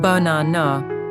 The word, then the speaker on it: banana: The stress is on the middle syllable. The first and last A's become weak. They become schwas. Listen, banana.